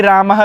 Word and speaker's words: रामः: विसर्ग लगा हुआ है तो अब उसका उच्चारण हम किस प्रकार से करेंगे रामः इस प्रकार से उसका उच्चारण करेंगे देवह तो देवह गुरु गुरुह इस प्रकार से इसका उच्चारण करेंगे और इसे क्या नाम